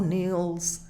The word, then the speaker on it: kneels: He truly feels, and at the words of one who kneels, no suena la K.